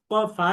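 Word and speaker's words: ف: ফা হরফটির উপরেও 1 নুক্তা যুক্ত, সুতরাং 1 নুক্তা যুক্ত ফা হরফটি 1 আলিফ টেনে পড়তে হবে। ফা হরফটিকে যখন আমরা উচ্চারণ করব তখন 1 আলিফ টেনে পড়ব, এবং এই ফা হরফটিও বারিক তথা পাতলা, অর্থাৎ মুখ স্বাভাবিক রেখে পড়তে হয়।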